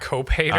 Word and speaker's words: cophater: It's spelled Cophater. Cope hater.